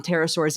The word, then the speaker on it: pterosaurs: Pterosaurs is spelled with a P.